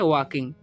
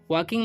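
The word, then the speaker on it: walking: लगा हुआ है ठीक इसमें ल के यहां पर साइलेंट होता है इसलिए हम इसको पढ़ने हैं वॉकिंग वॉकिंग मतलब होता है टहलना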